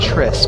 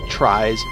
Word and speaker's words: tries: For some reason I want to pronounce it as tris, but it's tries.